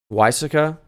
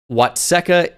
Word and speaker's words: Watseka: Illinois off the rip welcome to why Sika wysica could be could be an Illinois plate in Wisconsin kind of sounds like a Wisconsin Town name nope it is Watseka Illinois Watseka Illinois so